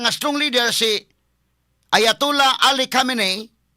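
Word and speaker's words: Khamenei: si Ayatula Ali Camine nagla-lain na pronunciation mga kaigalaan pronunciation sa mga magbabalita sa dito sa kinini ang mga televisions mahigala sa CNN sa BBC ang uban dayon nga ayatula Ali Camine ang uban mingon ayatula Ali Hamine sa tinodine hamine o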